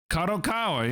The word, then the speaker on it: Kadokawa: Or did I pronounce that right? Kadokawa, yeah.